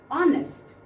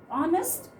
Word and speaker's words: honest: If I say honest, honest, of course the word is starting with H letter, but we are pronouncing the sound as O, honest.